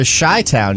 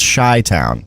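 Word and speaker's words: Chi-Town: Oh, I I don't So, yeah, so Shy-Town used to reference the city of Chicago is pronounced Shy-Town.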